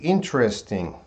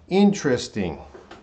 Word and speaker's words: interesting: how many syllables now if there's there's two ways to say this way a word if you say interesting interesting there's three syllables but if you say interesting interesting that's gonna be four syllables so the way the